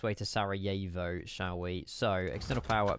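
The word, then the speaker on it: Sarajevo: Sarah Jivo pronunciation. Sarah Yeeo.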